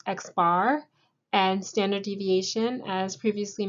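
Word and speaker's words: x̄: the sample mean denoted with this figure it's pronounced x-bar and standard deviation as previously mentioned we're dealing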